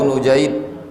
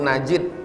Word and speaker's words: Nujaid: dengan sanadnya dari Abu Nujaid bi dhammin nun. Cara membacanya nunnya dibaca dhammah, nu. Jadi membaca nama itu jangan Abu Najid, enggak, Abu Nujaid. Wa fathil jim, jimnya dibaca fathah, Nujaid.